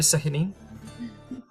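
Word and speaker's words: Sehanine: Is there a place of worship for Sihanin? I can't ever pronounce her name very well. You got it right, Sahinine.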